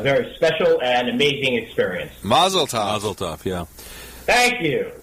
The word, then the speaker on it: Mazel tov: And I found out in Israel it's actually Mazel tov. Mazel tov. Okay. All of us here in the United States, whenever we use the Hebrew or the Yiddish, we're putting our emphasis on the wrong syllables, and it's it makes everyone look at you really strange.